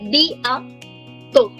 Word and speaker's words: bientôt: We don't say te in French, we say to. A. Bien. Gitika, perfect. Bien to.